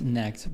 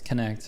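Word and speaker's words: Knecht: That's what I would have said, because you say like night or whatever, with a K. So yeah. So I would have guessed Necked, but it's Connect apparently. I would have silent T and just call him Neck.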